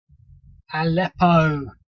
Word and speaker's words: Aleppo: Apello. Aleppo. I knew it was wrong. I knew I was saying it wrong.